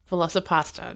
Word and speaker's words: Velocipastor: Yes, Velocipastor, not Velociraptor, Velocipastor. Pasta.